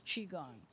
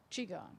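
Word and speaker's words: Qigong: that I can't pronounce its spelled Qi gon G Doug Elliot board member could you help me translate that I think it's chi gong chi gong oh thanks Doug we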